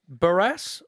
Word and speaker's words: Barrass: you want your young BL Sur to be pronounced and barass it is what a legend by the way